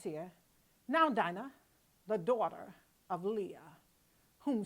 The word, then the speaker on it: Dinah: So I'm going to pronounce her Dina. I like to say Dana for some reason, but because I'm on the show, I'm going to say that. I'm going to say Dina because of this spelling.